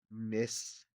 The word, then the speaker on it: Mysticeti: I'm trying to pronounce it Latin-y. Mysticeti.